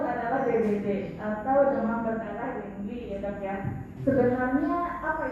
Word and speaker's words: dengue: Dan yang kata ketiga adalah denggi, tulisannya dengue ya, bacanya denggi.